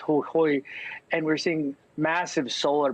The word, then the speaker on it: Jujuy: Our story takes a look at a very remote province of Argentina, pronounced Jujuy, and we're seeing massive solar panels and mining projects to extract lithium.